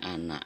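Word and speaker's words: أنا: Meskipun nanya panjang tapi membacanya ana, pendek.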